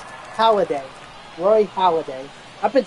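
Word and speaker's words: Holliday: you got this oh it's not holiday it's holiday Roy holiday I've been saying it for I've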